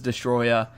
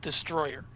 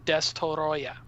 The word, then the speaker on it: Destoroyah: address, and that is the mispronunciation of the actual film. Now, I know that it's actually much easier for most of us to say that the creature is called Destroyer, but the actual Japanese kanji on the original poster calls the creature Destoroyah.